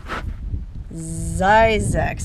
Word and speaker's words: Zzyzx: And he came up with the word Zzyzx. I guess that's how you're supposed to pronounce it, not Zzyzx, Zzyzx.